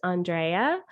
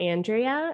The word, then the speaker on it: Andréa: this was fun because my name is pronounced andrea not andrea and so i thought